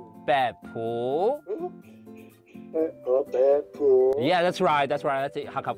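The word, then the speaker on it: 北埔: ，great，望山，OK， then 北埔，北埔，Yeah， that's right， that's Hakka pronunciation，北埔，条分。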